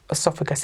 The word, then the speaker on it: oesophagus: Funny spelling, funny word to look at, but it's, I think I've pronounced it correctly, esophagus. It's spelt Oesophagus. Very unusual spelling.